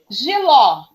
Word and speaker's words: jiló: fala para mim ó se eu falar assim ó jiló jiló Qual é a sílaba tônica ló ló ela é paroxítona não então ele é pula pro paroxítona né não e ela é o que oxítona ela é oxítona muito bem Pedro porque